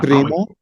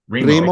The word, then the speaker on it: primo: Primo? Primo okay.